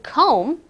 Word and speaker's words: comb: see Oh M B the B is silent when we say comb you don't hear me say the B I don't say comb